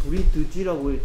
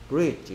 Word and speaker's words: bridge: 아니, D가 소리 안 나는구나. 쓰기 연습하면서 그런 생각 안 했어요? 어? 어? 그런 생각 할 수 있어요? 할 수 없어요? 어? 아, 이거 브릿드지라고, 처음에 딱 봤을 때 이거, 브릿드지라고 읽을 것 같은데, 실제로 들어보니까, 브릿지 이러네. 어, D가 소리 안 나니까 쓰기 할 때 조심해야 되겠다.